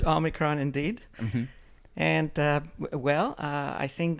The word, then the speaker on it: Omicron: How do you pronounce it? You know okay. Better than me. Yeah, it's another Greek word. Yeah. It's Omicron indeed.